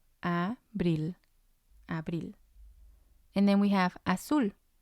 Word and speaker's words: abril: spanish we have abril abril it means april and again it has two syllables and the stress is going to be on the last one which would be number one a brill and then we have